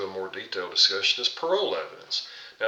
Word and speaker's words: parol: Another form of evidence before we get into a more detailed discussion is parole evidence. Now, it's pronounced like you're out of prison on parole, but it's not spelled with an E.